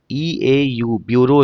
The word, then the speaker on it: bureau: ब्यूरो क्या होता है, BUREAU, ब्यूरो इसको पढ़ते हैं, इसको क्या पढ़ते हैं, ब्यूरो, central ब्यूरो of investigation.